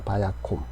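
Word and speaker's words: ויקם: 그래서 바야캄이 아니라 바야콤입니다. 바야콤.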